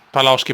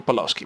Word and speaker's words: Paloschi: Paloschi, Alberto Paloschi, proprio in pronuncia inglese.